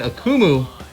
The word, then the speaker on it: Akumu: what is up we are here i'm in akumu is that right that's right am i saying